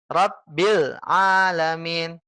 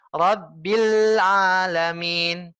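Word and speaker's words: رب العالمين: yang benar bagaimana Ustaz yang benar adalah rabbil alamin rabbil alamin Bil ditekan dulu Bu ya disempurnakan dulu lamnya ya rabbil Bil sempurnakan parameter kesempurnaan adalah apabila ketika ibu sudah bisa senyum ya di sukunya Ibu sudah bisa senyum contoh rabbil ini belum senyum Bil ini masih apa masih manyun mulutnya rabbil tapi kalau Ibu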